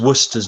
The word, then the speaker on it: Worcester: I know that because Worcester's nearby as well, they pronounce it Worcester. I think in Massachusetts. Over Worcester, here, yeah, it's Worcester. But I think so you have Worcestershire sauce, of course. So you pronounce it like you pronounce that as it should be, but it's actually Worcester, not Worcester or Worcester.